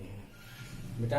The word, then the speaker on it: whom: ठीक है, ऐसे ही बच्चों WHOM, इसमें भी डब्लू साइलेंट होगा, इसका होगा प्रोनाउंसिएशन हुम।